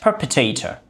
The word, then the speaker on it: perpetrator: pronunciation as well so the pronunciation of this one is okay perpetrator perpetrator traitor it is perpetrator beautiful perpetrator so perpet ator traitor you know so it's similar to that one the people who commit